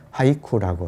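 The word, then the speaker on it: 俳句: 그래서 그 시조에서 마지막 종장만 딱 뗀 거를 일본에서는 백구라고, 그리고 일본 발음으로는 하이쿠라고 이렇게 불러요.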